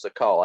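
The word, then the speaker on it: Sakall: I'm not sure how he pronounced his name. I Uh, think it was Sakal. I think that's the way I've heard it pronounced. Yeah, Sackle, yeah.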